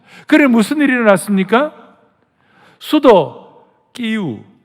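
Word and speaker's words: Київ: 수도 끼우, 전에 러시아식 발음은 키예프인데 이제 우리가 끼우로 하자고 그랬어요.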